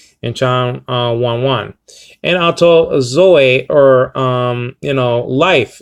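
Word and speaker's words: ζωή: Okay, en auto zoe ein, in him life was, literally says over here.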